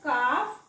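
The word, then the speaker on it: calf: तुम्ही टॉ क यामधला एल वाचायचा नाही तसच काफ कारण एफ च्या आधी एल आलाय का हाफ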